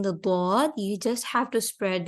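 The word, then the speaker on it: ض: Dod is going to pronounce heavier. This is a heavy letter. And to pronounce the dod, what you have to do is you have to spread your back part of your tongue in between your both sides of the teeth.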